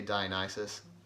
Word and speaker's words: Dionysus: be pronounced however but most people I hear say Dionysus but I said Diana says for the entire time and I don't know